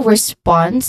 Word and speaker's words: response: Also, response. The primary stress falls on the second syllable of response, which is sponse. Now, many learners might incorrectly stress the first syllable.